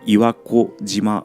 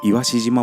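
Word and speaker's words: 岩子島: 子供の子って書くんですけど、しと読むらしいです。本当はこの岩志島も行きた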